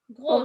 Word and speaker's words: gros: cuivre de la rampe et se retrouva assis sur le tapis, brosse d'en bas, avec un très gros mal Gros, je ne cœur, prononce pas le S.